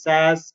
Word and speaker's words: SaaS: right so I have SaaS which is normally pronounced as SAS as and and us